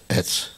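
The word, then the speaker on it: עץ: Вот только там алиф и це, да? А здесь айн и це. Значит, но произносится одинаково. Одинаково. Значит, кость эц. Алиф цади, да? Здесь айн цади, дерево эц.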